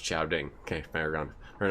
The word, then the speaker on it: Samhain: pictures with our telephones Samhain is pronounced shouting can't fire ground I